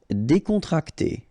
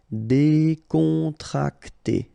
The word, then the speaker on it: décontracté: Décontracté. Okay, so you've got E accent aigu here and here, so it's E. Décontracté.